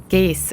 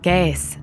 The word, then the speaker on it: Gais: Moi, je dis Gees. Jann et moi allons à Gais. Gees, en dialecte sensler. Ou encore : Gääs. C'est la prononciation correcte à Appenzell.